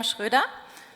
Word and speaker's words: Schröder: Hello, my name is Schröder, as we pronounce in German.